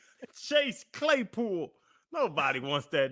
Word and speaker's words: Chase Claypool: That was funny because you go, Clase Chaypool. Clase. Chase Claypool.